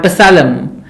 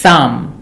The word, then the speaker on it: Psalm: in that word Psalm P and L both are silent so it is Psalm not Psalm or pasalam it is Sam and raspberry I think